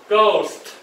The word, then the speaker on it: ghost: 个个个，o 跟我们刚学到的全员的，o，那因为 h 不发音嘛，所以个，o， ghost， ghost，好，repeat after me， ghost， ghost， ghost，来 ghost，好，最后节日就是 festival 嘛，所以恶鬼节，repeat after me。Hungry Ghost Festival.